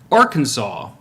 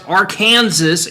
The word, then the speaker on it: Arkansas: strictly prohibited to pronounce Arkansas incorrectly per the state code the only acceptable pronunciation is in three syllables with the final s silent the a in each syllable with the Italian sound what the hell however